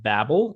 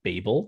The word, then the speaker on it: Babel: would be the episode Babel or Babel, depending on how you pronounce it, how pretentious you're feeling on a given day.